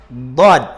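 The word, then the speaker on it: ضاد: Ang dad po, kagaya lang po siya ng letrang dal. Ngunit, ang dad ay lalagyan po natin ng hangin ang ating mga bibig. Lalagyan po natin ng hangin sa loob nito para mabigkas po natin ang dad.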